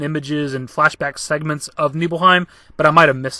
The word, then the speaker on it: Nibelheim: myself saying niebelheim and nibbleheim which i believe nibelheim is the proper way of saying it but i've always read it as nibbleheim throughout my entire life similar to like final